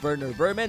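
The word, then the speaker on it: Werner Werman: rodent named Verer Vermin, who all this time I have been mispronouncing his name with a W instead of a V cuz how the heck was I supposed to know he was German?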